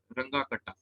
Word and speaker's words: Runge-Kutta: ठीक है, जैसे आयलर्स मेथड था, इस मेथड का नाम है रंगा कटा मेथड। ये जर्मन जो है बेसिकली प्रोनाउंसिएशन है, रंगा कटा।